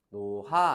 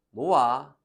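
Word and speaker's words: 놓아라: 그래서 나흔 안 하고 나은, 노하 안 하고 노아라 할 거야.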